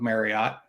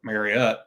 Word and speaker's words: Marriott: I'm lifetime Platinum with Marriott and or marott I think is a proper pronunciation and uh yeah it's